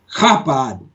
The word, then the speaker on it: Chabad: across the waves, but I think it would be pronounced Chabad, like you're clearing your throat.